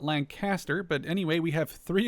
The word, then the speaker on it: Lanchester: This is Lanchester I believe and not Lancaster.